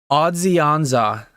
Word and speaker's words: Odzionza: Odzionza is what it's intended to be pronounced as, per the text in the bottom right.